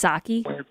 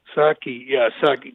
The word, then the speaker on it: Psaki: I think it's Psaki. Psaki.